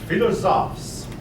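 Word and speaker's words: philosophes: finally notice the pronunciation philosop philosop the word is a French word and it basically means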